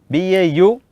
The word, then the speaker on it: Baumann: BAUMANN, Baumann, BAU, up plus O is au, even in Sanskrit also, akaragalige ukaro bandare aukaro, au.